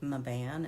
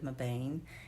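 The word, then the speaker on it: Mebane: But the town is actually, I believe, Maban instead of Mabane, and it's a gully puncher hairpin.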